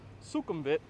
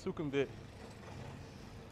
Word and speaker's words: Sukhumvit: So the Whizdom Connect Sukhumvit Sorry, it's not Sukhumvit. It's actually pronounced Sukhumvit. I be saying stuff wrong sometimes, but it's Sukhumvit.